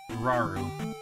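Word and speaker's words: Rauru: likes to do fraudulent claims on no it's pronounced raru okay stop and rest here I can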